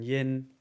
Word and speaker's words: yin: And then yin, think about a black bin.